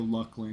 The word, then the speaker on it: Luclin: You saw EQ Dev pronounce it in a video, Luckling.